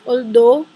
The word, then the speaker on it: although: Padahal faktanya kalau ada muncul kata dan H itu berpingan, kita tidak menyebutkan atau tidak ada suara, no sounds for G and H. For example, like although, jadi kita berbicaranya cuma sampai sini, although.